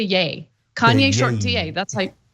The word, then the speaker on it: Ye: But it's just Kanye shortened to yeah Kanye short DA.